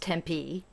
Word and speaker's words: Tempe: i learned very important things one that it's pronounced tempe don't you don't you know don't mess that